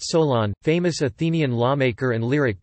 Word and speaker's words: Solon: Pronounced Solon, famous Athenian lawmaker and lyric poet.